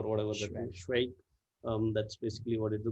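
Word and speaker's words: Švejk: Schweik is spelled or written in with certain whatever accented characters, but you could write it as SVEJK. The S has a crown or whatever. Schweik.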